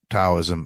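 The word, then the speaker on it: Tao: me stoicism and and taism and I know it's pronounced Dao but if you could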